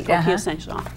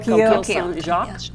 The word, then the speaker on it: Coquille Saint-Jacques: and the coquille Saint-Jean. And the what? I'm not going to pronounce it right. Coquille Saint-Jacques.